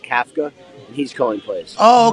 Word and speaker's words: Kafka: It's actually pronounced Kafka, and he's calling plays.